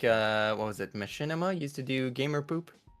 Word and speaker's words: machinima: It's not machinima, it's machinima.